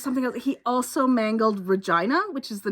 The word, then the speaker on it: Regina: He also mangled Regina which is the name of a city. Regina? I I don't think it was even that. It was more like vagina but with an R.